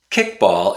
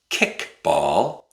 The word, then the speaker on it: kickball: Now we don't say kickball, kickball. We say kickball, kickball. We use a glottal stop.